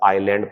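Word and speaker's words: island: होता है ये होंडा आयरलैंड ऐसा आयरलैंड पढ़ने ऐसे साइलेंट होता है इसका लिखने हैं लेकिन पढ़ने नहीं है समुद्री डाकू जिन्होंने अपना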